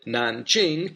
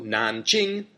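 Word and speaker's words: 南京: And Nan, second tone, means south. So Nanjing, southern capital, Beijing, northern capital.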